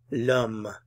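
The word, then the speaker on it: l'homme: feminine lashes the chair lum the man the H is silent here so um um um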